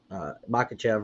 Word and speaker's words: Makhachev: And if you're going to take Makhachev, right?